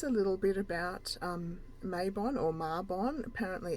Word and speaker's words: Mabon: goals so that's a little bit about um mabon or marbonne apparently it's pronounced marbonne i've already i've always said maybe it just